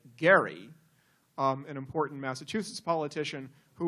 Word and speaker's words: Gerry: particular partisan gerrymandering, and gerrymandering apparently is a mispronunciation. because, of course, it is named after Elbridge, as he would say, Gerry, an important Massachusetts politician